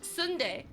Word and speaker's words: sundae: this thing called uh sunday which is spelt like sunday like an ice cream sundae but if you order